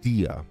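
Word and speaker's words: Dehya: Dia, okay, Dia.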